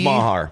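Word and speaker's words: Meagher: James Mahar. Oh, how about that? Okay, write that down. James Mahar. I know it's not spelled the way it's pronounced, but James Mahar.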